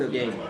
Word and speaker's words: again: Checked again. Checked again. Again, yes. Not a or but a. Like said. S-A said.